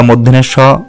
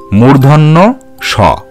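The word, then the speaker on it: মূর্ধন্য ষ: এছাড়া পেট কাটা মধ্যনের স বা অন্য যেভাবেই উচ্চারণ করা হোক না কেন, সব উচ্চারণগুলোই ভুল। তোমরা সঠিক উচ্চারণ করবে মূর্ধন্য স।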